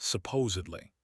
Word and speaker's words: supposedly: When you mean according to what is supposed or believed, you want supposedly. Slowing down, emphatic. Listen to the difference. Supposedly. You can hear that e'd sound clearly.